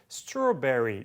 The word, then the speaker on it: strawberry: 그래서 secondary stress라고 하는데 제2강세처럼 발음해요. 그래서 strawberry 이런 식으로 정도 발음하는데